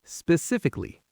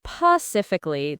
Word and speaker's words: specifically: Normal speed, specifically. Now you. Not pacifically. That one is like nails on the chalkboard for me when I hear it.